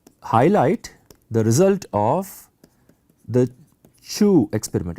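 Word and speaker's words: Chooz: Um, and in particular, I'm going to highlight the result of the Chu experiment. It's written ch H O O Z, but it's pronounced Chu.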